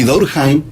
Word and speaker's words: Durkheim: Y Durkheim, así se pronuncia, aunque era francés, su ascendencia era alemana, escribió un libro que se llama El suicidio.